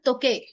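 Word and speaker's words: 時計: तोके तोके तोके देखो हम हमेशा हर लेटर को ना अलग से प्रोनाउंस नहीं करते। तो केके ई तोके ई ऐसे नहीं करेंगे।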